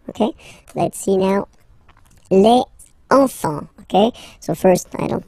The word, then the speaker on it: enfants: Don't pronounce the T. You don't pronounce the S.